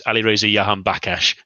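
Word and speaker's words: Alireza Jahanbakhsh: And for future reference, at least for you, Jez, it's Alireza Yahan Bakash. Thank you, Eredivisie Review, for reminding me how to pronounce that name several different times at least.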